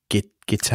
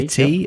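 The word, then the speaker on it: Gitea: It's spelled G-I-T-E-A. So Git-A. Oh, yeah, like a cup of tea. Git-T.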